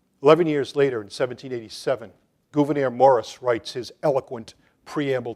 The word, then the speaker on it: Gouverneur: 11 years later, in 1787, Gouverneur Morris writes his eloquent preamble to the Constitution. That's his unusual first name. By the way, Gouverneur, it's not Governor Morris of Pennsylvania. It's Gouverneur Morris.